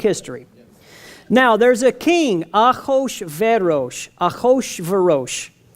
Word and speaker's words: Ahasuerus: Now, there's a king, Ahasuerus. Ahasuerus, I mean, there's a 70 ways to pronounce that, depending, but it's Ahasuerus.